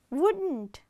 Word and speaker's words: wouldn't: Double O, full U sound, U, took, then double O, book, firewood, double O, wouldn't, would, here L is silent, ne de ella kura api sadda karanne ne, wouldn't, then would, U, O, U.